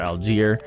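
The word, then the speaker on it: Allgeier: but yeah Antonio gaps is not bad Tyler algier pretty sure based off of off of watching a Falcons game um and how that name's pronounced it is Tyler algier uh anyway he doesn't look great but he's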